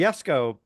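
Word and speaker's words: Jesko: they wanted to but the yesco uh which is spelled weird right J KO it's it's named after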